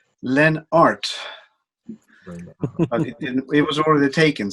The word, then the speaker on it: Lennart: Me, myself, I'm pronounced Lennart. In English it would be Lennart, but in Sweden it would be Lennart, or in Italy, Leonardo. That kind of thing.